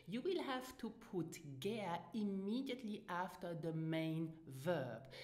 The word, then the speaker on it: gär: Now listen and repeat after me for the correct pronunciation, gär. Now you will hear as well native speakers say gären.